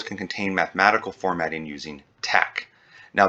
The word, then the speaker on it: TeX: contain mathematical formatting using tac now that's spelled t-e-x but it's pronounced tech any text enclosed between